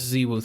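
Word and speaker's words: ZywOo: I don't know how to pronounce that last one, bro. Right. Ziwu. Oh, it's Ziwu.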